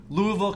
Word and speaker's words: Louisville: You originally hail from Louisville, Kentucky. Very good. Did I say it right? You got it.